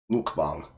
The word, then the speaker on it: mukbang: Technically, the way she pronounced it is actually correct. Mukbang. Because you gotta remember, mukbang is how we say it in English.